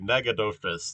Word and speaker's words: Nacogdoches: Um, yeah, so I'd say, yeah, maybe this is like Lufkin, Nacogdoches, or wait, Nagadoches. That's how that's pronounced.